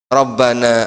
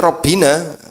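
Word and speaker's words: ربنا: Sehingga ini tidak boleh rabbina. Kalau rabbina gini keliru bacanya ya rabbana atau kalimat apa yang rabba.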